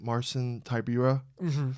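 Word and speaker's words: Marcin Tybura: Marson Tyura.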